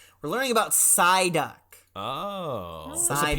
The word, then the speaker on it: Psyduck: Psyduck. It starts with a silent.